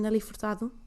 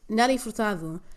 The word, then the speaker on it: Nelly Furtado: Nell f as underrated I will not be pronouncing her name like that that's fine I will not judge you uh and just like you better hey English speakers do not judge me for pronouncing her say name correctly just as I won't judge you for not pronouncing it correctly okay thank you very